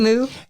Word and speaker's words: Simu: and co-written by Destin Daniel Cretton and stars Simu Liu. That is how you say his name. Simu Liu.